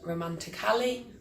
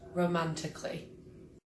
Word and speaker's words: romantically: he spoke to me romantically not romantically but romantically .silent B .please say that in a subtle way not subtle way but subtle silent G.